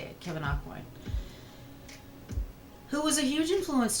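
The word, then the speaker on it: Kevyn Aucoin: by the amazing late kevin aquin aquan i'm probably saying that wrong and i'll fine no that's how you say it kevin aquin who was a huge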